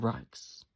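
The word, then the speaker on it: Rox: Rocks. Mr. Rocks is spelled R-O-X.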